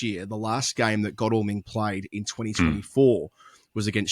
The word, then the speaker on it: Godalming: Yeah, apparently Godalming is how you pronounce it because it's England and you have to do things difficultly.